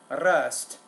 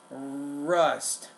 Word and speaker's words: rust: And with the R sound, the initial R sound at the beginning of word, it's not really rust, but it's rust, rust.